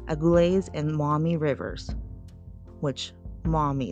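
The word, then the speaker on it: Maumee: and Mami Rivers which Momi it's like spelled like m auu me e General Wayne surveyed the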